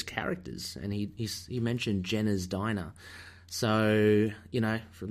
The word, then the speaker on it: Gena: she did say that it is Jenna not Gina's diner I had always pronounced it Gina did you pronounced a